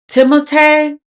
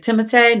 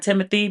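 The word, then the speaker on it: Timothée: Timote. Even though he said people didn't call him Timothy, but his father is French, so technically his name is pronounced like Timotee, not Timothy.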